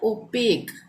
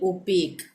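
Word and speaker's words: opaque: उसके बाद है ओपेक, यहाँ पे भी QUE लास्ट में आ रहा है, ठीक है, एक साथ, तो यहाँ पे भी इसका उच्चारण क होगा, यानी ओपेक।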